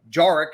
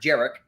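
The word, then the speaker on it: Jarrick: go is he not uh we interviewed uh jarek as it's pronounced not jerich jarek bernard converse from oklahoma state you know he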